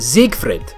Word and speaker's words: Siegfried: So first off, like, actually, I was told that actually, it's pronounced Siegfried. Siegfried. It's with the Z, Siegfried, and I'm not supposed to roll the R.